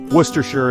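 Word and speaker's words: Worcestershire: Oh, the English language and its delightful disregard for spelling things phonetically. Worcershure is a beautiful county in the West Midlands of England.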